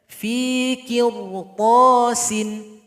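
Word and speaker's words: قرطاس: Kemudian fi qirtasin, fi qirta, jangan fikir to, kir. Kalau kir maka bacanya kurang tepat. Bibir bawah angkat sedikit. Fi qirtasin.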